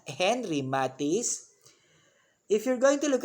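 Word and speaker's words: Henri Matisse: window by henry matisse take note of the pronunciation it is henry matisse if you're going to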